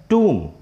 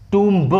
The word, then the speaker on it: tomb: और next word TOMB, इसका सही प्रोनाउंसिएशन होता है टूम। लोग बहुत से इसको टूम्ब बोलते हैं, बट it's correct pronunciation is टूम।